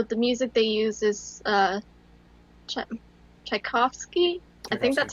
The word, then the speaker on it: Tchaikovsky: With the music, you know, the music they use is Tchaikovsky.